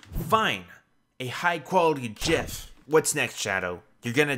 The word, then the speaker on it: GIF: It's pronounced GIF. Fine. A high-quality GIF.